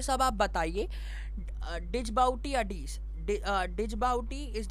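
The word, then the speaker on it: Djibouti: डिजबाउटी अडीस, डिजबाउटी इज the terminal station है डिजबाउटी, the pronunciation है the pronunciation है डिजबाउटी। ओके, द डजी वो स्पेलिंग जो है DGI है, DJI है, बट आपका प्रोनाउंसिएशन होगा डजबाउटी।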